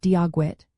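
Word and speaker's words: Dia dhuit: Practice common greetings like Diagwid, which means hello, pronounced Diagwit, and Slán, meaning goodbye, pronounced Slán.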